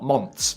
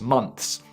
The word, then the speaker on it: months: I haven't seen her for 2 months, not months, months.